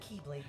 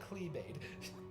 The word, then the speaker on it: keyblade: You butchered that word. I said keyblade master. You You said clebade.